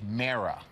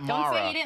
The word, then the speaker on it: Mara: Mara and Kate Laura it's Mara oh yeah it's not Maura learn anything here yeah